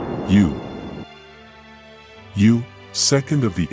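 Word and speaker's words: 勇: Pronounced, yu.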